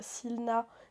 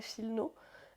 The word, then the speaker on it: silna: gauche où du coup en français tu lis silna mais c'est un mot polonais qui pardon pour ma prononciation je n'ai pas pris de cours de polonais mais qui se prononce à peu près chilno qui veut dire forte